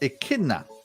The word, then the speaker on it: Echidna: it's spelled it it shouldn't it but it's pronounced Echidna Echidna yes okay all right that's it you